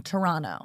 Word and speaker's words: Toronto: Toronto, not Toronto.